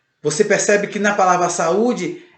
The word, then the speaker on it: saúde: E você percebe que também tem um acento agudo e o U ele fica isolado em uma sílaba, tá bom? O U fica isolado numa sílaba, ou seja, sa-u-de. O U fica separado do A.